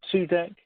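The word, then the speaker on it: Cudek: And, we saw the Russian for Tzudek. It's like a tzadi in Hebrew, and it's written in Polish as Kudek, and in Polish it's also sometimes written in Sodek with an S. And if you look at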